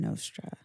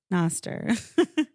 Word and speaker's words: Nostr: Let's talk about something that I saw in Nostra. Noster. Let's do that again. No, let's not do it again. Like, you said it wrong. You said it wrong, and I corrected you.